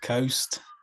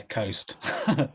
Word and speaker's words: Khost: like exactly yeah but yeah Coast okay ghost like like ghost with a K yeah that I mean